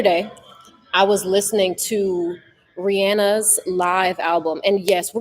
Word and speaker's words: Rihanna: And yes, we're going to say Rihanna because that's how you pronounce her name. I've been arguing with my friends about this. They're like, "We didn't know her name was pronounced Rihanna." Says, "When was it Rihanna?" I'm like, "It was always Rihanna." Okay.